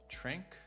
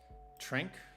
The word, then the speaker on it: Trink: course lee uh i believe it's how you pronounce this last name it's trink it's i know his first name is lee trink t-r-i-n-k trink um is going on like i